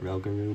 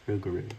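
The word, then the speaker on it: Rougarou: got rugaru or rugaru some people call it raro but it's actually pronounced rugaru so and okay I thought my game froze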